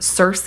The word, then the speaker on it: Circe: A lot of people pronounce her name Circe. I think the proper pronunciation is technically Kirke, but I'm gonna say Kirke.